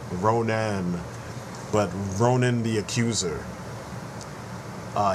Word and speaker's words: Ronan: of the comic Geeks like to mispronounce what you can clearly read is ronin you know Ronan but Ronin the accuser